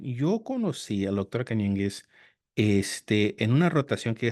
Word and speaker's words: Cañenguez: Es Cañengues, sí. Cañengues, sí. Como en inglés no hay una ñ, entonces todo el mundo dice Canengues.